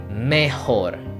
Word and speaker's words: mejor: Be careful with the pronunciation because sometimes we can confuse mayor, it's a strong pronunciation, with mejor, mayor, mejor.